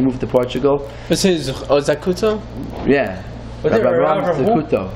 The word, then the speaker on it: Zakuto: Is his Zakuto? Yeah. Rabbi Avram Zakuto. Zakuto, yeah. Zakuto, and we call him Zchus because Ashkenaz pronunciation.